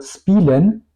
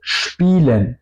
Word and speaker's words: spielen: de toda la palabra se pronuncia más como SCHP, como por ejemplo spielen, es decir, no digo spielen, digo spielen, ¿ok? Por eso se escribe un poco como, o no se escribe, suena como SCHP y luego IELEN.